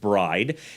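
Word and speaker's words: braai: and they have a bride wild boar tenderloin i always thought it was a misspelling of braised but it's not it's pronounced bride that's actually the thing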